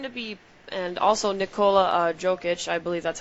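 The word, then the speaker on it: Jokić: And he's going to be, and also Nikola Jokic, I believe that's how you pronounce his name, he has re-signed, and he's like their franchise player.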